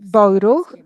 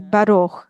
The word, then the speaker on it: Baruch: So, for example, in the Ashkenazi pronunciation would say Boiruch, in Sephardic Baruch, and in modern Hebrew you say Baruch.